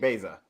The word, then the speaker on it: Baeza: Can we take Beza? Yes. You pronounce it right.